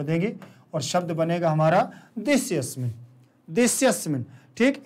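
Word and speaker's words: देशेऽस्मिन्: इसका उच्चारण ध्यान रखना थोड़ा सा कि जब इसको एक साथ पढ़ते हैं तो आ का उच्चारण नहीं होता, देस्यस्मिन ऐसे पढ़ेंगे, देस्यस्मिन, ठीक। लेकिन जब अलग अलग पढ़ेंगे देशे अस्मिन तो आ का उच्चारण करेंगे, एक साथ में नहीं।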